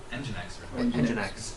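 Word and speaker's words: nginx: should have explained that I went to the website and searched it and it had a phonetic pronunciation and I was like oh yes of course the thing that you've been referring to I'm sorry I'm just so used to it this is engine X does https and HTTP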